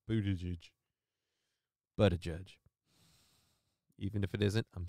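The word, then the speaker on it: Buttigieg: but a judge and by the way Lady it's pronounced but a judge I don't mean a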